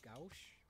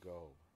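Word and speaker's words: Gough: His name is Michael Gauch, I think. No, I think it's pronounced Michael Go.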